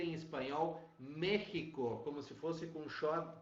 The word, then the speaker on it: México: é isso aqui pessoal mexico assim como mexicano apesar de ser escrito com x o som vale do j por quê porque foi